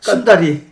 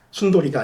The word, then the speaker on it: 순다리: 순다리. 예. 라자. 순다리가 이쁜이란 뜻이에요. 이쁜이 순다리. 순돌이가 아니라 발음 주의하셔야 됩니다.